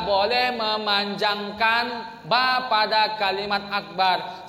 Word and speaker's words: Akbar: Tidak boleh memanjangkan ba pada kalimat akbar. Siapa yang memanjangkan ba pada kalimat akbar pada saat takbiratul ihram, maka salatnya tidak sah.